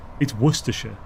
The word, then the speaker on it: Worcester: It's worsher. There's no sister. It's worsher.